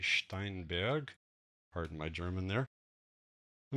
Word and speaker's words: Steinberg: by a german company the german pronunciation will be steinberg pardon my german there